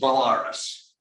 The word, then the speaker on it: Belarus: that's a russian tractor how many people pronounce that what is that anybody it's pronounced balaras after belarus you know belarus the country it comes from the country of belarus and yet old soviet